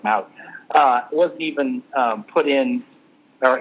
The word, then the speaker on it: Mawae: Mawae was put in, or Maui, I think I'm pronouncing that wrong. I think it's pronounced Maui.